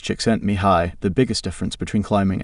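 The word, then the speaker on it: Csikszentmihalyi: According to the Hungarian American psychologist Mihi C6 and Mahili pronounced chickent mihi, the biggest difference between climbing and say football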